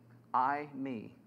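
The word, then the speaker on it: εἰμί: As English speakers, when I hear that Greek word, I, me, what's it sound like? I and me.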